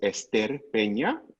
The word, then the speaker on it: Ester Peña: So my name is Ester Peña, and Joshua, I'm surprised you didn't pronounce it that way.